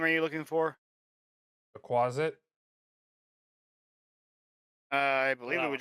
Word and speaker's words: quasit: called again Quai something what quasit quasit like closet but quasit yes can I get